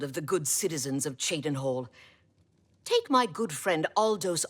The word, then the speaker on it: Cheydinhal: Cheydinhal. Right, I was pronouncing it wrong before.